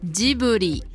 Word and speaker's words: Ghibli: de l'animation en occident on prononce ghibli avec un g dur mais au japon il le prononce avec un j'aime ou et ça donne ça diboli et oui car en